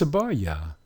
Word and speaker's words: Abarya: And once we add the vowel at the end, because we're using Ya as a vowel, it's Abarya.